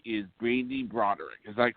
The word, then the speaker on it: Brande Roderick: everybody and our guest today I hope I pronounced your name correctly is Brandy brck is that correct Brandy rodick yep that's it hi guys okay good you